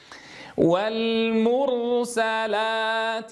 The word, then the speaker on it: والمرسلات: تنبهوا إلى ضم الشفتين ضما محكما إلى الأمام عند نطق الحرف المضموم. عُر، والمُر، عُر، هكذا. نعيدها. والمر، مر، والمرسلا، لا، ونفتح الفم عند نطق الألف فتحا وسطا، فلا نبالغ بالفتح لأن فتح العربي فتح وسط.